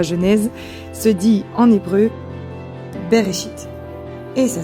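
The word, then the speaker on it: בראשית: Au commencement, d'ailleurs, c'est pour ça qu'on a appelé ce livre la Genèse se dit en hébreu berchit et ça s'écrit comme ça.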